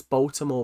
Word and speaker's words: Baltimore: So guys, guys, guys, I I I it's Baltimore without the tea.